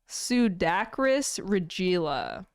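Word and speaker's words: Pseudacris regilla: I'm lost I don't I believe it's sudakris regilla I believe is how you would pronounce it I never would have thought there was gonna be a D in there right there's never you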